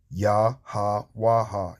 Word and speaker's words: Yahweh: Okay, without those vowel points, those little dotted lines underneath there, if they weren't there, it would be pronounced Yahweh, Yahweh.